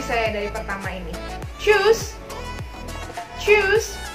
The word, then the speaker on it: tschüss: Tschüss. Ya, huruf U-nya lebih kecil ya.